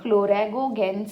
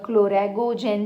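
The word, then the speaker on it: chloragogen: Basically we have क्लोरागोगेन sales और क्लोरागोजेन sales, कुछ भी बोल सकते हो आप उनको, either way it could be pronounced.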